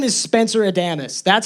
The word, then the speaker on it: Adamus: My name is Spencer Adamus. That's how you say my last name, Adamus.